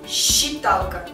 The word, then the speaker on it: считалка: Щур привязчивый привязчивый считалка пишем но произносим считалка считалка длинная ч то есть